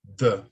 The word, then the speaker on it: the: E the.